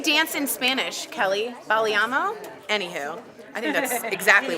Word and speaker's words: bailando: Bailámo? Anywho, I think that's exactly what you do. How do you say it, dancing in Spanish? Bailámo. Bailámo? Bailando. Bailando? Bailando.